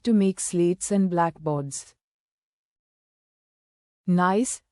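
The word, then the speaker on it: gneiss: Nice pronounced nice is a metamorphic rock formed from granite.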